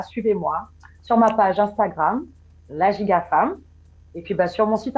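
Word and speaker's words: La Giga Fam: Et puis, si vous voulez continuer à me suivre, ça s'appelle La Giga Femme. Ça s'écrit LAGIGAFAM. Donc, de temps, on entend femme, c'est vrai, parce que c'est ciblé pour les femmes dans un premier temps, mais pas que.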